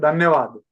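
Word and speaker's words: धन्यवाद: And in the last slide, you have written thank you, mercy, and dhanyavad. Yeah. Okay, how do you pronounce that dhanyavad?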